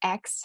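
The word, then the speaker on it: Aix: little bit intimidating to say but it is pronounced X for short as you can see on the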